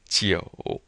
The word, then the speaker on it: 久: And then this U in pinyin is pronounced like the O in toe. Just like O. So you have G-O. Jiu.